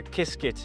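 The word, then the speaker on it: Qiskit: Yeah, so there's the So Kiskit is the Python library. That's the open source. Can you spell that?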